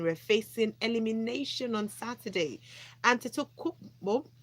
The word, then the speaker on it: Antetokounmpo: Tega, first thing I want you to do is to teach me how to pronounce that name. Antetokounmpo.